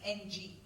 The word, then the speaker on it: Ng: done by a big deep learning guru Andrew pronounce his last name it is ng but that's what they had coated that we